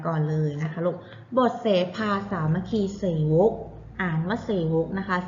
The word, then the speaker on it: สามัคคีเสวก: กัน 2 ตอน ค่ะ อ่าน ว่า บท เสภา สามัคคีเสวก นรก ไม่ ใช่ เส่า เอง นะ คะ นะ คะ เรื่อง